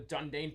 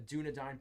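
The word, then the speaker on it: Dúnedain: the forest or Janu The dundane Protector or Dunedin protector on the commander card I think I've been pronouncing that word the wrong this entire time the dunadine protector Oliphant and the Shire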